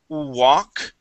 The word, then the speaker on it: walk: Okay, but other words like walk. Okay, let's try that word. The L is going to be silent here. Walk.